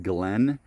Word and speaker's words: Glyn: I'm at number 17 Glenn Drive and that Glenn is spelled G L Y N Drive in Florescent, Missouri.